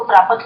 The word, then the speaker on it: प्राप्त: प्राप्त बोला करो प्राप्तत नहीं बोलना प्राप्त शब्द पंजाबी में हो गया प्राप्त हिंदी में आधा शब्द आधी की तरह ही उच्चारण किया करो कितनी बार सबको बोला ध्यान रखा करो इस चीज का प्राप्त तो इसमें हमें